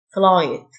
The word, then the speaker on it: flight: تشه specially رحلة جوية flight ال gh صغير flight يفتقد miss miss Parthenon